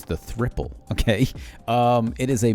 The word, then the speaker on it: Thriple: coffee shop crew that is another new indicator pronounced as the thripple okay it's 3pl it's the thripple okay um it is a macd replacement essentially